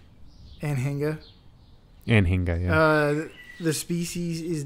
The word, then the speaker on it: Anhinga: Yeah, okay, if you want to hit the hard G. Yeah, like an Aninga. Anhinga.